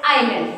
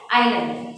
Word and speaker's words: island: it as island so here s is silent so we pronounce it as island we pronounce it as island so two terms you